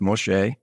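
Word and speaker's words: משה: And that name, M-S-E, or Moshe, which that is Moses, is spelled Mem, Shin, which is M, Shin, S, or S-H, if you will. And then He, which is E. It's pronounced Moshe.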